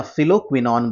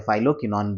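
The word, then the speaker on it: phylloquinone: फिर हमारा ई हो गया जिसको हम लोग टोकोफेरॉल बोलते हैं, और के जिसको है ना फिलोक्विनॉन बोलते हैं। ठीक है, या फाइलोक्विनॉन जो आप इसको प्रोनाउंसिएट कर सकते हैं।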